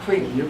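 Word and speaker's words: CREAMMA: That's how you pronounce it, CREAM, even though it's two M's.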